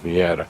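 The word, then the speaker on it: miere: the honeycomb for the mira which is how you say honey in Romanian. Miiera. Now notice when you say honey mira that r because it's spelled m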